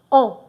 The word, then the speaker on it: ans: Please don't forget it's 20 ans. On. Don't pronounce this S.